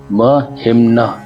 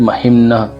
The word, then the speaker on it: महिम्न: ये देखिए, महिम्न हलंत है, तो हम ह का उच्चारण करेंगे पीछे से, तो महिम्न पारन पारन ते।